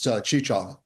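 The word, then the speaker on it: Cheechoov: was your last name oh my apologies it's chich Chava oh how do you spell that it's c h e e c h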